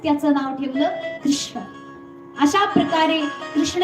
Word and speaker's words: कृष्ण: कृष्ण म्हणेल किंवा काहीही परंतु अत्यंत शुद्ध उच्चारण जर केलं तर कृष्ण असं आहे अत्यंत बघा हे नाव जर उच्चारायला जर ठरलं ना कमीत कमी आपल्याला जन्म तरी लागेल शुद्ध उच्चारण करण्याकरता कारण की आपल्याला वाटतं तेवढं सोपं नाहीये याच्यामध्ये मूर्धन्य श लागलेला आहे आणि पुढे ण आहे या दोनचाही जे की मूर्धा स्थानीय वर्ण आहेत या दोन्हीचाही उच्चार करणं